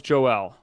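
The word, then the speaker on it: Joël: mention on joel bouchard is it joelle or is it joel it well it's joelle joe okay it's the french there is an accent on the e there's the two two dots wait i thought i thought it was the o had the two dots that was like an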